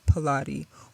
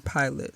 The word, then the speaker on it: Pilate: at the hands of Pontius Pilott or Pilate. Some people pronounce that differently.